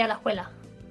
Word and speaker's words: Alajuela: And I happen to know that the J is normally pronounced as an H.